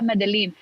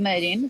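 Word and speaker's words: Medellín: so so right now imagine that's the real pronunciation everybody's like ah madeline but like in in in colombian spanish we call it medin so so so yeah you see like in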